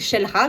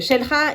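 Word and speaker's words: Xel-Há: 3è parc, c'est Shelra qui s'écrit Xelha avec un X au début. Ils ont tous un X au début de toute façon. Et Shelha, il est avant d'arriver à Toulou.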